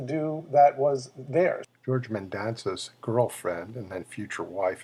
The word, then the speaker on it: Mendonsa: never got to do that was there George Mendonsa girlfriend and then future wife and by the way that's how you pronounce amend danza was in the background that